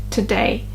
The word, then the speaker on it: today: small h sound t today today. So not today today today it it's very too light t today today. And the stress is is on the second syllable t today.